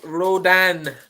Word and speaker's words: Rodin: And the Aidan O'Brien horse, people are saying in the comments it's pronounced Rodin because he was a French painter, I'm sure, in many moons ago.